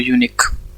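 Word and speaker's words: unique: तो यूनिक में क्या होगा, देखो यूनिक में हम इस तरह से प्रोनाउंस करते हैं इसको, यूनिक, ठीक है। मतलब क्या आ रहा है, वाई आ रहा है, ठीक है।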